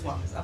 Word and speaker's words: Suarez: Suarez, like Spell it Luis, for me. Suarez, Okay, thank you. like Luis Suarez. Yes, Suarez.